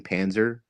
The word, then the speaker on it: Panzer: And I love the fact that your last name Panzer, am I pronouncing that right? Yes.